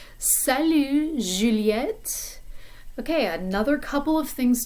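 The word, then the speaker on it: Juliette: out of your mouth juliet in french it's a different kind of sound it's just like the sound that comes in the middle of the word pleasure or garage if you pronounce it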